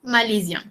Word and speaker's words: malaisien: Satu S bunyi dia macam huruf Z. Okay? Je suis malaisien.